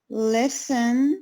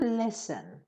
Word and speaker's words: listen: five if they had listened no focus on the pronunciation it's not lesson no listen so say it again